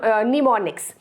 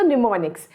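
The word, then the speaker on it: mnemonics: topics in एसएसटी इज निमोनिक्स am silent है सो निमोनिक्स निमोनिक्स मतलब किसी भी चीज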